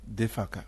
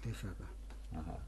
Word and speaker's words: Defaka: Defaka. Defaka.